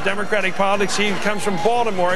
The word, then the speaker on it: Baltimore: He comes from Baltimore, as it's pronounced there, Balmer.